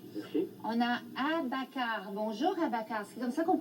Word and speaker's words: Abakar: Bonjour, Abakar. C'est comme ça qu'on prononce votre nom? Oui, c'est bien Abakar, A-B-A-K-A-R.